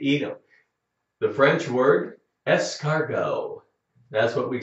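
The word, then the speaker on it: escargot: them the French word escargo that's what we say in America too we picked up the French word if you're going to eat a snail in a restaurant we would say say es cargo snail SN SN SN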